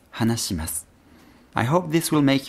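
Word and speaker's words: はなします: But the thing is, the sound si doesn't exist in Japanese. If we look for the ending syllable su in the hiragana chart and move up one row, we have shi, not si. So the polite form of hanasu is hanashimasu, hanashimasu.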